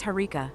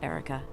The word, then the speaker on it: Herika: But it's Herika, not Erica. Oh, and I'm doing just fine, thank you. This is mind-blowing. So I should call you Erica? Is that pronunciation correct? Immersion Erica? breaking? Oh, moist boy, you really know how to push my buttons. No, you shouldn't call me Erica. It's Herika with an H.